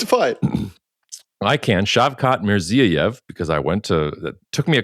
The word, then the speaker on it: Shavkat Mirziyoyev: President Trump could not pronounce their leader's name, but they're on there. Nobody can. It's fine. I can. Shavkat Mirziyoyev, because it took me a couple days to